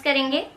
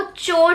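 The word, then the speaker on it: chore: अब आप बताइए कि इसको कैसे प्रोनाउंस करेंगे। आप इसको चोर पढ़ेंगे, चोर, नॉट कोर, it will be चोर।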